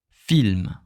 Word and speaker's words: film: En français, in French, we have just one, I, the letter I. It's just one way to pronounce it. I. Okay, I. So we say film.